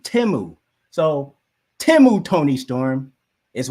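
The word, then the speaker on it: Temu: I used to say Timu, but there were so many Super Bowl commercials over the week, and I was like, oh, it's actually, you pronounce it Timu.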